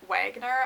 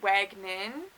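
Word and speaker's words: Wagenen: her name my event wagoner i don't know why i thought that it's wagnin i don't know maybe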